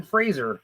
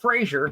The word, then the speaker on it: Fraser: he said hey I'm Brendan Fraser not Frasier if you say Frazier I know where you